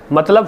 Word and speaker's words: मतलब: चीजें हो सकती है जैसे कि एक शब्द है मतलब मतलब शब्द है हिंदी में उसका बहुत बार उच्चारण लोग मतवल करते हैं ठीक है ल की जगह ब बोलते हैं ठीक है ठीक है